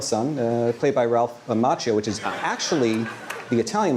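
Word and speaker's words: Macchio: Daniel Son uh played by Ralph Machio which is actually the Italian way pronounced Mchio but I believe he pronounces it machio.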